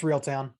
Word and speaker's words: Reeltown: It's Reeltown.